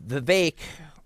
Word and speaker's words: Vivek: a second shall we marry uh Nick um the bake rhymes with cake Rama Swami was on with Alex